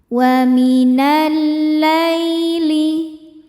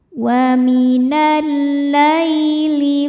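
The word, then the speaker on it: وَمِنَ اللَّيْلِ: Wa minal laili. Lai hukumnya huruf lin sebab ya sukun sebelumnya baris fathah. Dibacanya lembut atau lunak. Wa minal laili fasabbihhu wa'id.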